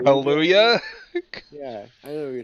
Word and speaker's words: Kaluuya: Daniel, I'm gonna mispronounce this. Oh, Kaluuya? Kaluuya.